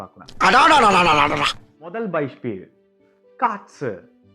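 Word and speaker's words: Katze: அடடடா முதல் பைஸ்பீடு காட்ஸ் இந்த காட்ஸ்ன்ற வார்த்தையில எத்தனை எழுத்து இருக்கு? கா ஆ டே செட் ஏ இருக்கு இல்லையா? இப்போ இந்த கான்றது என்ன? ஒரு கான்சனன்ட் தமிழ்ல மெய்ெழுத்து. இந்த கான்ற சவுண்ட்ல இருந்து மெய்ெழுத்து எப்படி எடுப்போம்?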